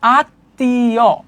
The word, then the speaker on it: আত্মীয়: যেমন এইযে দেখো আত্মীয় এখানে কিন্তু যুক্ত হইছে মফলা। কিন্তু উচ্চারণ হচ্ছে আত্মীয় মানে তর দীপ্ত হইছে।